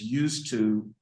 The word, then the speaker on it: used to: when we make it in question form the pronunciation is used to uh without the D yeah the pronunciation doesn't